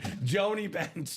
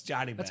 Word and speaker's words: Johnny Bench: You've just been pronouncing it Johnny. Joni Bench. No, it's Johnny Bench.